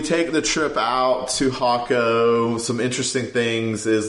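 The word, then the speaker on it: Jacó: in this area called hako but it starts with a J there it's pronounced differently it's j so y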